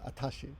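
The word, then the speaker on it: あたし: what does she and pronounce it atashi and that's I guess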